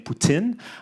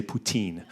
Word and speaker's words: poutine: Now, I've been standing up here saying putin, uh which is the French pronunciation. It's kind of like a p and then you forget the rest. You just add the tin on the end of it.